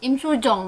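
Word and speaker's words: 임수정: Ini yang jadi kakaknya si Im Soo-jung. Im Soo-jong ini dia Im emang Soo-jung apa Im Soo-jong? Im Soo-jong tulis sebenarnya bacanya.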